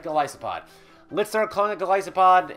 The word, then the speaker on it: Golisopod: famosa uh galissa gisa gasopod and tabuk coko I'm going to pronounce jpod wrong for the rest of my life Goliath and isopod so gasopod gospod right gospod let's start calling a